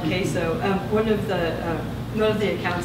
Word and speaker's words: queso: across the country people weren't familiar with the word queso and so they they'd say quo or quo and um it was always kind of interesting thing to to hear the different pronunciations but this is called